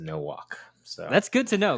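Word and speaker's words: Nowack: i know no walk no whack but we actually pronounce it no walk so that's good to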